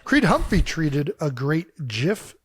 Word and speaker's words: GIF: humphy treated a great GIF which I do pronounce it gif don't care if you disagree wrote uh me trying